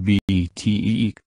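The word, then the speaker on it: BTEQ: TEC is pronounced BTEEK.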